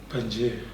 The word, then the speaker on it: Pangea: Pangea.